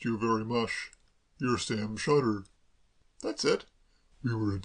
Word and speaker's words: Shotter: Sam Sauter? If you prefer it that way, certainly. I've always pronounced it Sam Shotter myself. Sam Shotter?